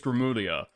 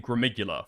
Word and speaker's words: Gramuglia: But I think it's Gramulia, right? I think it's Gramulia. But I've kept on saying Gramuglia for the longest time.